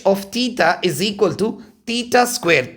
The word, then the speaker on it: theta: Differentiate h of theta is equal to theta square.